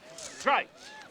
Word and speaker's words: Gritz: Name's Greitz. G-R-I-T-Z. Greitz. Rhymes with whites.